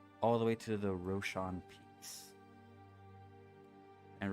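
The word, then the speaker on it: Raushon: see moving Westward all the way to the Roshan Peaks and Roshan is spelled r-a-u-s-h-o-n so our journey starts in the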